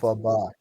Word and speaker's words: Elphaba: name Alphaba is actually comes from uh, the the pronunciation of the initials of the original author of Wizard of Oz, All L. right, Frank I didn't Baum. know that. Alphaba.